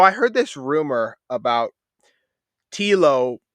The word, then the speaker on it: Telo: So I heard this rumor about Telo rhyming with Hilo, and I wanted to know, because a couple Tank and me talked about it.